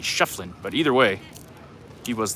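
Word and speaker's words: Schieffelin: I was informed earlier I was pronouncing his name wrong. I was saying Shiflin. I'm told it was actually Shefflin, but either way, he was the founder of Tombstone.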